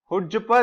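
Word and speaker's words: chutzpah: हुज्जपा जो होता है ये अपने पास, इसमें सी साइलेंट रहता है इसके प्रोनाउंसिएशन में।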